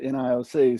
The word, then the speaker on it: NIOC: So the NG9-1-1 Interoperability Oversight Commission, the NIOC, I get the task of telling y'all what we're about with the NIOC. So exactly how do you pronounce NIOC?